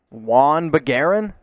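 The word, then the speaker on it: Juhann Begarin: this one jawan bagaran j silent again silent ish juan bagaran that is correct one aaron all right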